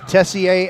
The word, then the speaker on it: Tessier: to needed to do to pronounce the quarterback's name right is Tessier as in Messier right one of the